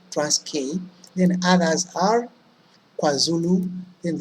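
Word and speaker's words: Transkei: The first two, I've brought them because they have the same pronunciation. Look at this. Cis-K, trans-K. So whenever you feel like perhaps you're getting confused or forgetting, remember the pronunciation. Cis-K, trans-K.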